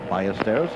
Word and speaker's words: Ballesteros: Here are all the scores of players in alphabetical order as we go down, starting with B for Ballesteros, or Ballesteros if you prefer the Spanish pronunciation.